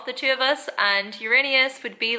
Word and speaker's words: Uranus: It's actually pronounced Uranus.